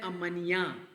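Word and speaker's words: amanhã: नते tomorrow होता है अमन एच जो है वाई की आवाज निकालता है अगर मैं कहता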